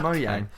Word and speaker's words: Mojang: a price cheese because in China they won't pronounce the J there nevermind oh of course that's what we were arguing about yes everything alright so that's why it's pronounced mo yang so minecraft dungeons is